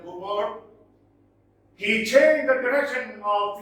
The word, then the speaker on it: Cowper: the corporate superstitions underlying William Cooper or pronounced as Cowper as well but generally William Cooper he changed the direction